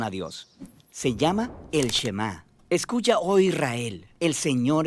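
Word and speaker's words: שמע: es Oye o escucha Y en hebreo se pronuncia shemá de ahí es de donde viene el nombre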